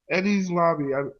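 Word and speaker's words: Enies Lobby: Eddie's Lobby. That's how you pronounce it.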